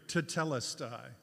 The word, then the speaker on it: tetelestai: I don't know how you say it in Amharic, but in the Greek New Testament, the word is tetelestai. Kind of sounds Amharic, but it's Greek, tetelestai.